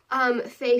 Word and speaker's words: fae: And so the last two, you pronounce the first one, fey fair, and so it's FAE/FAER, and you would use that one to be like, oh yeah, can Faye come too?